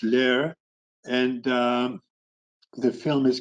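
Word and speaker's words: Leer: about that town by the name of lair l-e-e-r and in german it's lair and the film is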